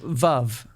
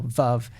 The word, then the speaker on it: Veuve: and realizing that it you know it rhymes with love which actually ties back